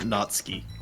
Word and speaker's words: Natsuki: guy not to be that guy it's definitely pronounced natski who cares we don't care we're being that